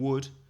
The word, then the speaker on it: would: So because would, the pronunciation would, can have 2 spellings and 2 meanings.